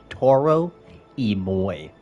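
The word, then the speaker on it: Toro y Moi: We are listening to Toro Emoy. That is spelled T O R O Y M O I with space in between of Y.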